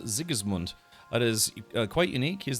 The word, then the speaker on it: Sigismund: Well, yeah, in the German language, you know, it's not always the case, but when words start with S, it's almost pronounced with a Z-ish pronunciation. And then words that start with a Z kind of sound like they start with a TS. So yeah, it instead of Sigismund, it'd be more like Sigismund in German.